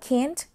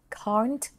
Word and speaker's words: can't: นะ คะ นัก เรียน จะ อ่าน ว่า Can't หรือ Can't ก็ ได้ นะ แล้ว แต่ นัก เรียน เลย ค่ะ ถ้า นัก เรียน ออก เสียง ว่า Can't ก็ จะ เป็น แบบ American ถ้า เป็น Can't ก็ จะ เป็น แบบ British นะ คะ ก็ คือ ได้ ทั้ง